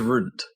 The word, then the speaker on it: Röntgen: Oh yeah, it is Runt. Runt or Runt. It's more like, it's a long O for the umlaut O.